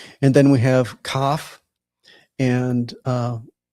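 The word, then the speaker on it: כ: And then we have cough. And uh with the dog len it is a hard k as in king, but without it, it's the ch like in bach like we talked about earlier.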